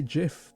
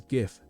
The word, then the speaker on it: Giff: One may say Jiff, the other says Giff, both with the same meaning.